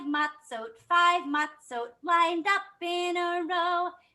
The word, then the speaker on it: matzot: So I know it's not really called matzahs. It's called matzot. I feel like matzahs is fun to say, but I'll try to say it right. Matzot. Can you say matzot? That's like when there's more than one matzah.